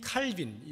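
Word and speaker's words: Calvin: 16세기 프랑스의 종교 개혁자인데, 프랑스 말로 요즘은 그렇게 많이 부릅니다. 존 칼뱅이라고 이렇게 많이 부르는데, 이 칼빈, 영어식 발음이죠.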